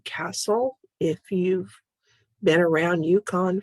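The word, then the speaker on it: Kastl: course my name is lisa castle that's spelled k-a-s-t-l no e on the end as a matter of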